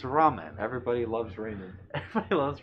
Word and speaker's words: ramen: pronounces it Raymond. Raymond. Izzy, if you're listening, you're probably going to watch this later. It is not Raymond, it is ramen.